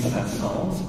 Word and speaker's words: Saint-Saëns: Anyway, don't forget to pronounce the S when you say his name.